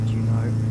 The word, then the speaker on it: Juneau: Juneau, okay, that's how you pronounce it.